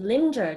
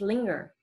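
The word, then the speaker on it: lingering: not culus cus Linger The particularity here is we said g and not J at first I would pronounce it linger just like ginger but it's linger thoroughly not Thor roughly thoroughly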